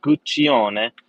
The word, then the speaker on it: Guccione: And yeah, well, my name is Guccione, the way that you pronounce the Guccione. You have to put three fingers together like real Italian and say Guccione for full experience and pleasure.